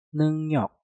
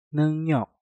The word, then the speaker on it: 능력: Di contoh yang pertama ini, kalian bisa melihat neng diakhiri dengan nyeng dan juga diikuti dengan kata yang diawali dengan real. Nah, maka realnya kita rubah menjadi suara nyen. Maka untuk kata ini kita ucapkan 능력, 능력, 능력, 능력.